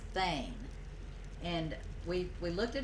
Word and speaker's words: thane: and they would have titles yeah so it's pronounced thane it's pronounced like t-h-a-n-e and it's very much